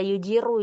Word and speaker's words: يجير: Tadi Ana ditegur karena tidak menebalkan ro pada yujiru ya, karena dhammah, ro-nya dhammah, maka harus tebal.